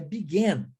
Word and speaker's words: began: Já a palavra begin, o verbo begin, o passado é began. Began. Presta atenção, é um AN, pronuncia-se N. Began, tá?